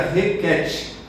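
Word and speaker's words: Hekhet: E é interessante que a deusa egípcia da fertilidade, conhecida como Requete, H-E-K-H-E-T, é claro que é uma transliteração, né? Mas se pronuncia Requete, a deusa rã da fertilidade, do parto, da regeneração.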